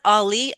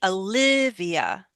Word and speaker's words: Olivia: It's all not Ali. Olivia.